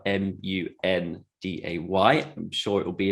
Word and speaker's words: Munday: And Monday is spelled Munday.